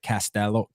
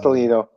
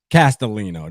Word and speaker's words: Castellino: Castello, how you say it? That was terrible. Castellino. Castellino.